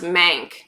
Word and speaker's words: Manc: that's so stupid and it's pronounced mank like short for manchester's manc okay um cookie i